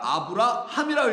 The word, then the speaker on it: 아브라함: 이 해라는 히브리어가 하나 더 들어가서 해, 하 사운드가 나오니까 아브라함이라고 읽게 된 거예요.